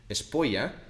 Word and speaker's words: Espolla: es means it is so in castiano pronunciation espoya it sounds like saying it's